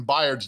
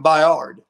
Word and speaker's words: Byard: then al michaels will know how to pronounce kevin byard's name yes as opposed to kevin baiard another thing terry what